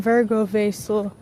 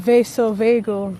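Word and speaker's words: vasovagal: So, for years on end, I've been saying Virgo Vasil instead of vaso vagel, that's actually what it's called.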